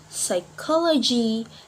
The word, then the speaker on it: psychology: is letter P so the letter P can also be silent in words for example like Res recipe psychology psycho letter P can